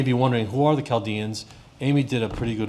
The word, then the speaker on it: Chaldeans: I don't know why it's spelled with a C-H when a K would have sufficed, but a lot of people don't know that it's pronounced Chaldeans, not Chaldeans.